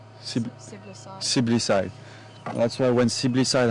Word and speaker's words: siblicide: Sibling-side. Siblicide.